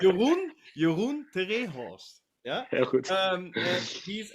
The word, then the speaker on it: Jeroen te Rehorst: So, for all the people who are just tuning in now, we are talking to Jeroen te Rehorst. I'm saying it right. Goed. Yeah, perfect. Jeroen te Rehorst.